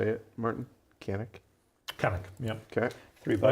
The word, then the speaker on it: Cannock: Cannock.